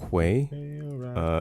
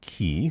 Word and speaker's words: quay: It's pronounced Quay. Say it with me now. With the Q? With a Q. Quay. Quay. Yeah, and? Quay. Not what? Not key.